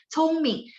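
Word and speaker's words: 聪明: 聪明 Ming nada 2 sebenarnya di sistem Taiwan. Nah, cuman di sistem Beijing dia Mingnya nada 5 ya. 聪明.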